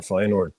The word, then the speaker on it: Feyenoord: feord right how you we want to correct pronunciation both both work man you can say fyord or fyord both I say fyord okay so fyord um